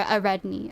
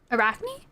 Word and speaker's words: Arachne: was talking about a AR redney I for how you say her name AR redney Arney the girl who became the spider Arachne Arachne you're right it was Arachne yeah no Arachne was